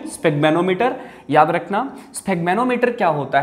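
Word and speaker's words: sphygmomanometer: Clear है, स्फिग्मेनोमीटर, इसकी pronunciation स्फिग्मेनोमीटर।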